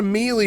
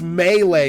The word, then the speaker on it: melee: This is not a meie worm. Like me e a l y. It's melee. You dumb It's a French word.